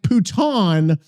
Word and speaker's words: putain: Putain in French is pronounced roughly like pouton with the N nasalized. So it's more like puta. Okay. Poo sounds like poo, but shorter. Tain is like tan, but with the N half swallowed.